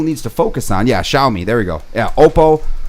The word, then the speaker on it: Xiaomi: is it the one with the x in front of it that i don't know how to pronounce that's um that's xiaomi did i say xiaomi